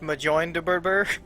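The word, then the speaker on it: Mjölnir: Thor still had mon I believe it's pronounced Majin yeah but but Russ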